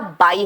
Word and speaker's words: buy: खरीदना का इंग्लिश बेटा बाई होता है, BUY, बाई। वहां पे यू का प्रोनाउंसिएशन कुछ नहीं होता, BY भी बाई होता है, BUY खरीदना भी बाई होता है।